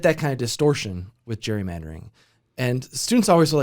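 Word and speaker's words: gerrymander: you know this was Jerry mandering has been around for centuries like 1812 I think is when the term is used it was actually originally pronounced Gary Mander uh because was named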